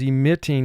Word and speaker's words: emitting: Now we double the T here because our root word is emit, and in that word, it's a 2-syllable word, but the second syllable does get the emphasis, and that second syllable ends in a vowel followed by a single consonant.